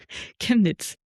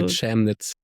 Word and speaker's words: Chemnitz: How do you pronounce Chemnitz, it? actually. Chemnitz. But you can also say Chemnitz.